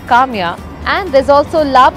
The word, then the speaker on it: Kamiya: tamya which is falafel also rhymes with my name Kamya and there's also lab